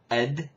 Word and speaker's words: قد: talking about the word ed spelled cough del this is levantine specific that pronunciation is lebanese specific the word is used